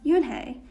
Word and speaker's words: Unhei: no unhei corrected it's spelled u u-n-h-e-i it's pronounced yuen hey oh it's you hey the boy said like